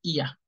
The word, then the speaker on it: Ihr: Se pronuncia IA.